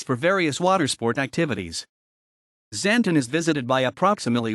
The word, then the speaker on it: Xanten: zanton German pronunciation Sant lower franconian santen is a town